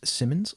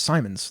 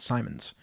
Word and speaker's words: Simons: also corrected my pronunciation his name is Simmons like uh Simon or it's Simons like Simon says but with an S at the end Simons his name is Simons